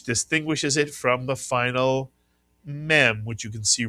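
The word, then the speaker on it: מם: Mitsuyan M sound the name of the letter mem Mitsuyan and we've also shown you that the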